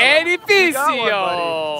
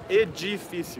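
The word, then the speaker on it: edifício: So the C is an S and the D is a G.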